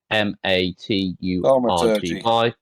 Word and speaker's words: thaumaturgy: It's spelled THAUMATURGY.